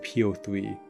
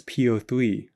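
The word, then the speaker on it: P03: leshi magnificus grimoire and po3 and it is po3 not po how is uh po3 or poe supposed to be pronounced i'm gonna go with po3 sorry i just had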